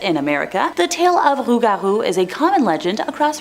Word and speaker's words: Rougarou: Number 3, Rougarou. The Rougarou legend has been spread for many generations, either directly from French settlers to Louisiana or via the French-Canadian immigrants centuries ago.